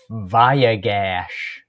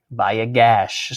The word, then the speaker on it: Vayigash: Vayigash. Vayigash.